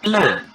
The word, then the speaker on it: pleut: Terus il pleut. Pleut, T-nya jangan dibaca.